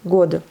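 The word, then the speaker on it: год: Vous voyez ici, pareil, le D devient sourd. Revoyez mes cours avec les consonnes sourdes. Mais ça s'écrit en D, god, année. Donc, Vesna, c'est le printemps.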